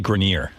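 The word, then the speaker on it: Grenier: It's actually Grineer.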